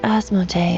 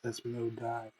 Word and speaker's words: Asmodee: After all, it's clear that Asmodee is not here. Well, They butchered that so hard, Asmodee. Really, it's Asmodee, but they said it wrong.